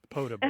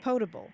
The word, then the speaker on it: potable: And so you have a long O in all of those words.